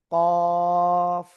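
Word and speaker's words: ق: জিহ্বার গোড়ার তার বরাবর উপরে তালুর সাথে লাগিয়ে দুই নোক্তা ওয়ালা কফ কফ। চার আলিফ টানে উচ্চারণ করতে হবে।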